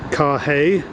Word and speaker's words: Carhaix: I think I've arrived in Carhaix. What's it called? Carhaix Plugeur. The H is silent in Carhaix, as in Carhaix, hip hip Carhaix, except doesn't look all that prepossessing.